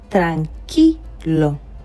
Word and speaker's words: tranquilo: So because of that, the U in the middle is not going to be pronounced. We will not say tranquilo, but we are going to say tranquilo.